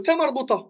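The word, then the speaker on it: تاء مربوطة: Et enfin, dernièrement, le T marbota.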